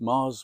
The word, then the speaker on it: Magrs: I'm Paul and it's Mars with a G. I haven't said that for a while. It's Magrs, but it's pronounced Mars.